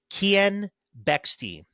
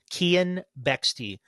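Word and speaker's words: Keean Bexte: like phonetics as well so it is Ken bexy Ken bexy is the guy from the counter signal so Ken if you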